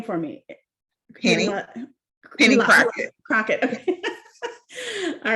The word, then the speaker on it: Crocket: so it's really nice to meet you and pronounce your name for me crockett all right just want to make sure i